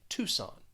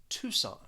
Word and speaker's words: Tucson: with this city it there's a silent c you're not going to pronounce that c and you'll just say tucson tucson next is the city